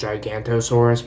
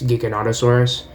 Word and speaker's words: Giganotosaurus: and then Giganotosaurus um people pronounce it as gigantosaurus but it's Giganotosaurus um I want to get